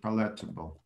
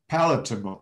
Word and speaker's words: palatable: understand i left electable you understand this word paletteable maybe i will i will find this word in the or cambridge dictionary maybe i pronounce it not cambridge nah we'll see um well palatable i'm sorry palatable palatable if food of drink